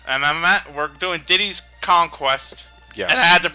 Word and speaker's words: Diddy's Kong Quest: Everyone and their grandmother always pronounced it as Diddy Kong's Quest. But nope, you're wrong. Everyone was wrong.